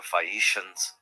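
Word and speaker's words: Phaeacians: The people, by the way, are the Fishians. The anglicized pronunciation here of Fikians, a remote, peaceful seafaring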